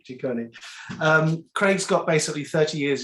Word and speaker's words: Ciccone: So with respect to Craig, I say Craig Ciccone, but I think you say Ciccone, don't you? Is that how you pronounce it? Ciccone. Ciccone.